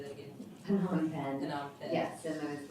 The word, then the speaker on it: Phnom Penh: Phnom Penh.